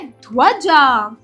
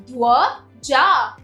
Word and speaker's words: ध्वजा: चलिए शुरू करते हैं पहला शब्द है ध्वजा ध्व जा ध्वजा दूसरा शब्द है